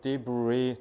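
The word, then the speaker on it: debris: the bre the bre 그니까 뒤에를 좀 길게 빼야 돼요.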